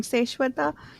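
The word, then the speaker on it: Seswatha: Seshwata. It sounds a lot like the Sanskrit word Shaswat, which is eternal.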